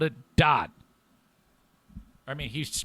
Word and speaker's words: Dat: __ ] uh jason says pretty sure it's dat not dot no he pronounced it dot jason it was spelled dat d-a-t but he spelled it dot i mean he's pronounced it dot i said